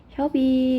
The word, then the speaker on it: 협의: 여기 자음을 첫 소리로 가지고 있는 음절의는 이로 발음한다. 이게 원칙이에요. 허용이 아니라 이렇게 발음해야 돼. 그러니까 얘 같은 경우에 자음 히읗이 있으니까 희망 이렇게 발음해야 되고, 얘도 당연히 협의 이렇게 발음해야 되겠죠.